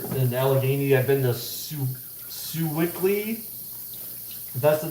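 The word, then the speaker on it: Sewickley: is out there in allegheny i've been to sue wickley that's the name of how you pronounce it but i was only there because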